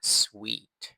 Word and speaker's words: suite: กัน นะ ครับ ผม คำ ซ้าย มือ อ่าน ว่า Sweet Sweet เหมือน กับ รส ชาติ หวา นะ ครับ Sweet ส่วน คำ ฝั่ง